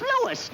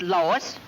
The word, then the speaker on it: Louis: Me name is Louis, not Lois. Gee whiz, everybody interpolates me name wrong. It's Louis.